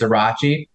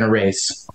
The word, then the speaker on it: Arace: So funny enough, even on the campaign trail, no one quite got it right. Mostly because you are right. It's Arace. Okay. My family has never pronounced it that way, so we've always been Arace since the beginning.